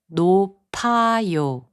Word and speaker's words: 높아요: 높아요, which means high, is pronounced as 높아요.